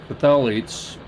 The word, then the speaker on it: phthalates: What has no dyes, no formaldehyde, no phthalates.